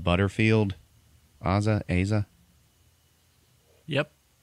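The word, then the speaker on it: Asa: that actor uh I don't know how to pronounce his name Aza Butterfield Aza Aza yep he's the star of the movie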